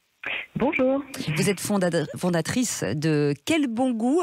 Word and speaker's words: Kelbongoo: Vous êtes fondatrice de Quel Bon Goût, alors ça s'écrit comme ça se prononce, des produits fermiers, des fruits et légumes.